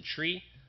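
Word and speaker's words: trie: fredkin he invented the tree uh that's t r i e um some people pronounce it try these days but he says it's tree so if you're doing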